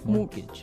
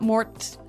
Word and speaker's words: mortgage: with a t yeah it has a t in it but you don't pronounce it you say mortgage morgage so not Mort mortgage not mortgage morgage